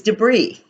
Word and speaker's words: debris: the last word is debris this word is funny because it's spelled differently it has a silent S at the end so it's de Bie R is debris it's something that's discarded